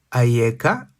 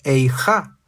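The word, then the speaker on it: Ayeka: La palabra Aieka también puede ser pronunciada Eija, que es una voz de duelo.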